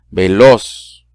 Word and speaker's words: veloz: Por ejemplo, aguda, veloz, se escucha más fuerte, los.